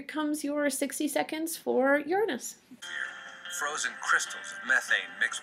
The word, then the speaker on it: Uranus: sure you are saying it correctly it is Uranus um and it spins on its side that's